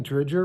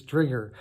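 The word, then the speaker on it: Driedger: his name's right here it looks like dredger but his trigger and he's playing really well I'm really happy for you mr.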